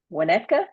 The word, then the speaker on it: Winnetka: He is a longtime resident of Winnetka, is that how you pronounce it?